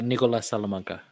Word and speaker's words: Nicolas Salamanca: So the artist for Honor and Curse, is it Nicolas Salamanca, or how do you say that name? Yeah, Nicolas Salamanca.